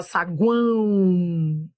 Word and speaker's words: saguão: Saguão, ó, semivogal, vogal, semivogal. Aproveite esse vídeo de teoria, entenda os detalhes. Tá vendo esse O aqui? Ó, ele é semivogal, ele tem som de U, ó, saguão.